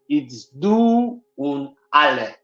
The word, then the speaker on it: Duale: It is in German. It's du und alle. Du und alle. Duale.